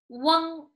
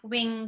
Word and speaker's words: wang: Remember, this is wang. Don't pronounce it like wing, wing, no. From the back, it is like wang.